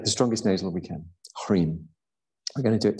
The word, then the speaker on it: hrim: So all we're going to do is going to chant this hrim. You'd spell it H-R-I-M, but you'd have a dot under the M and a straight line across the I.